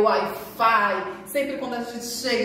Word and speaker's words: Wi-Fi: Então, é escrita assim, mas a gente pronuncia Wi-Fi, tá bom?